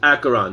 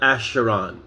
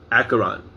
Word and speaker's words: Acheron: how you pronounce acheron as if it were k so the ch is hard like school so it's acheron not asheron acheron marsha a bite of